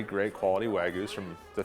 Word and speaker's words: Wagyu: I pronounce it Wagyu.